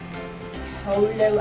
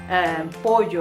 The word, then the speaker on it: pollo: Everyone should know that double L does not pronounce an L. It's a Y sound, like calle, not calle. Pollo, not polo.